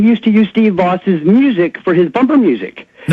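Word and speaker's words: Vaus: It's V-A-U-S. Steve, V-A-U-S, Voss.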